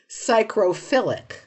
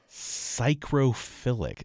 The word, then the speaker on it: psychrophilic: Psychrophilic. Psychrophilic. This sounds like a It looks like psychophilic, except there's an R in there.